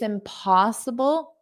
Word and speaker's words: impossible: It's impossible to find a spot. So, notice that linking there to find a find a It's impossible. Impossible. So, P. That's the stress syllable.